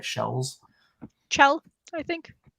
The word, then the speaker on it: Chell: if we can get Shells. Her name is Shell, right? Shells. Chell, I think. Shells. Hard C. Did you just say you think? No. Yeah, hard C. Chell.